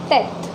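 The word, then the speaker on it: tête: okay, and the sound that it produces is teth. Meaning of this word is head, and the sound that the accent circumflex gives is teth.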